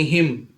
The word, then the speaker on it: hymn: ठीक वैसे ही हिम, HYMN, हिम, हिम में एन साइलेंट है, हिम में एन साइलेंट, तो हिम का मतलब होता है भजन।